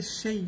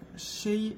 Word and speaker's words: Shea: Je pense que c'est Shea. Je pense qu'on le prononce comme ça. Shea Earnshaw.